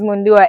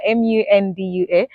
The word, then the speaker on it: Mundua: That growing up, I used to spell it in English, just to make sure that people can pronounce it the right way.